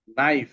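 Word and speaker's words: knife: কি আছে খেই এন ডবলই নি এখানে খেই সাইলেন্ট হয়ে গেছে খেই এন আই এফই নাইফ এখানে কিন্তু নাইফ হবে না নাইফ হবে খেইটা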